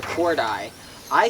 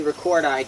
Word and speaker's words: recordii: And then you have like, you know, for example, you have Cyclura recordi. I say recordi just out of habit, but there are two I's at the end, so it's technically pronounced recordii.